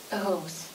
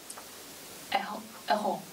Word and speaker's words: euros: Elle coûte 59 euros. S, ça se prononce pas, S pour faillir.